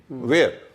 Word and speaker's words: where: ओ, WHEN, वैन, वैन नहीं, अच्छा, व्हील नहीं, वेयर नहीं, वेयर, माने WARE का जो उच्चारण है, WHERE का भी वही उच्चारण है।